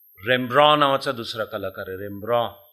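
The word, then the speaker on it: Rembrandt: नावाचा दुसरा कलाकार आहे रेम्ब्रॉ उच्चार रेम्ब्रॉय पण स्पेलिंग होताना आर इ एन बी आर एन डी टी होते बी आर एन डी टी म्हणून ब्रँड नाहीये ते वैयक्तिक मला इंटरेस्ट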